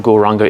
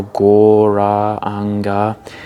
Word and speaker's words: Gauranga: And the mantra Gauranga is going to be broken down into 4 syllables, Gaur, Ra, Ang, Ga.